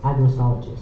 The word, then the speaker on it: agrostologist: Agristologist. Agrotologist. A G R O S T O L O G I S T. Agristologist.